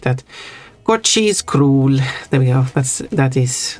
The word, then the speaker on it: król: the English spelling, that imagine that the O with the accent above it is like 2 O's.